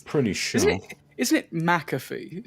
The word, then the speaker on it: McAfee: sure is isn't it mcafe is that how you pronounce his name McAfee yeah either way the guy